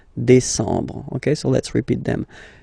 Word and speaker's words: décembre: Same thing. EM en décembre. Okay, so let's repeat them. Juillet. Remember this. Juillet. Août. First option. Août. Second option. Septembre. Octobre. Novembre. Décembre.